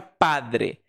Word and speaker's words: padre: Padre, então, depois da consoante da mesma sílaba ali, o D tem um R. Significa que vai ser um R de vibrância fraca, que é igualzinho ou muito parecido com o R de vibrância fraca do português brasileiro.